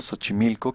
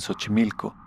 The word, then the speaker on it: Xochimilco: Dicen que en Cancún, el Acapulco del nuevo milenio, hay otro Xochimilco que se escribe con 2X y se pronuncia sh.